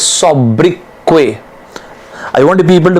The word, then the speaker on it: sobriquet: The pronunciation of this word is sobriquet. It is not sobriquet, it is sobriquet.